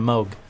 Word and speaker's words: Moog: It's like when people say Moog instead of Moog.